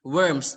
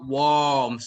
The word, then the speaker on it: worm: pronunciation so he's liv eating worms not warms okay so it's worm okay uh we meet